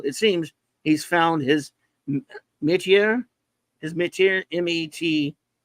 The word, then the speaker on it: métier: He has long been a master of the form, and in the Forever People, it seems he's found his métier, M-E-T-I-E-R.